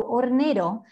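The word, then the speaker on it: hornero: bird maybe you know in spanish we write the h but we don't pronounce it so ornero this is our national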